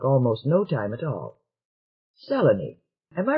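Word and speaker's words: Selene: around recognition took almost no time at all seleni am i right fellaini right correctly pronounced are you enjoying yourself the earthman said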